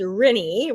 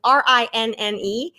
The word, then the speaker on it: Rinne: Well, the last name is Rinne, rhymes with Minnie. I've heard every pronunciation you can imagine, though. So it's Rinne. It's a Finnish last name. It means hill in Finnish.